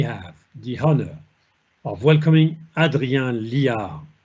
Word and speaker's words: Adrien Liard: Today, we have the honor of welcoming Adrien Liard. I pronounce it in a French way.